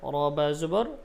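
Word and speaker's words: رَبَّ: ওকে সামনে চলি রব্বা রবাবর রব্বাব রাব্বা বলা যাবে না র উচ্চারণ মোটা হবে পর হবে রব্বা রব্বা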